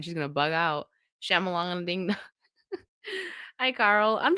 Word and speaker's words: Shyamalan: I say Shyamalan. That's how I always heard it. So don't correct me. That's how I say it. I know some people say Shyamalan to be funny.